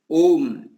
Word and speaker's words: ओम: ओम अकार उकार मकार, ओम के लिए अकार, अका उच्चारण करते ही मुंह खुलता है, और उकार से उच्चारण से वो चलता है, कुछ क्षण तक चलता है, और म से विलीन हो जाता है।